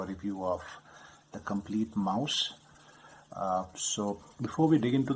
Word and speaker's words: Maus: cover says the complete Mouse I mean it's m-a-u-s yes but that's how it's spelled in German uh but it's pronounced the same way as Mouse which is spelled as m-o-u-s-e in English uh you can see